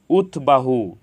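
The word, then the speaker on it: উদ্বাহু: বফলার উচ্চারণ অবিকৃত হয়েছে উৎবাহু এখানে উৎ এর সাথে বফালা যুক্ত হয়েছে এজন্য বফলার উচ্চারণ অবিকৃত হয়েছে উৎবৃত্ত এখানে উৎ এর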